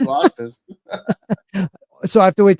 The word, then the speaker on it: Asta: I just love Asta.